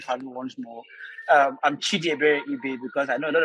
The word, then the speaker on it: Chidiebere Ibe: and thank you for you once more i'm chidi very ebay because i know a lot of persons uh you know actually i mispronounced my name which is right before i